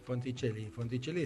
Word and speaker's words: Fonticelli: Fonticelli, así como se escribe, nadie capaz, nadie Fonticelli, con C-E-L-L-I. Y doble L, ¿sí?